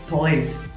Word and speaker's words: police: And the last word is police. സോ ഒരിക്കലും പോലീസ് ഒന്നുമല്ല, പോലീസ് ഒന്നുമല്ല, ഇറ്റ് ഈസ് police. So first syllable is pa and second syllable is lace, having a stress with it. So it is police.